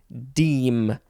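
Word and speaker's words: deme: dematerializes there ain't much the next word is deem d-e-m-e noun from 1833 one a unit of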